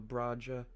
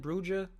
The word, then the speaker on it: Bruja: I'm showing a YouTube a old picture of a Braja. How you say it again? Bruja, Bruja, Bruja. Bruja. Spanish.